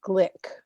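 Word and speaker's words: Glück: I found that said it rhymes with click so I'm going to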